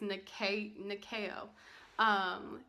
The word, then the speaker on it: Nyakio: It's Nyakio.